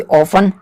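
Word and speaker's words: often: हूं next example he ऑफ helps me इसको ऑफ भी पढ़ते हैं और ऑफ्टन भी पढ़ते हैं लेकिन मैं आपको प्रेफर करूंगा कि ऑफें पढ़े टी इस में साइलेंट होता है अब इसका मतलब क्या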